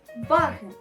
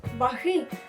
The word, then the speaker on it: ваги: приклад у нас буде слово ваги наголос ставиться на літеру А ми з вами не кажемо ваги Ну ось наприклад ваги